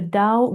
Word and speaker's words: Dao: What is a little unique about Master Sham is that he's also a Dao Grandmaster. So dao has two spelling and two pronunciation. Tao t ao or dao d ao.